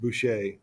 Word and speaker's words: Boucher: By the way, Boucher is pronounced Boucher, and it shows that she's in charge, the one by him.